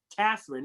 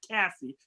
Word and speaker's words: Catherine: reason or another catherine make sure i say it right katherine not cassie catherine is unable to connect